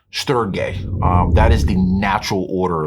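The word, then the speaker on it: στοργή: The first one, it's pronounced storge.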